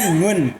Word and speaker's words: Nguyen: Bukan nguyen. Ngun. Oh Ngun. Ngun. Oh Ngun man, dibacanya ah lu gimana?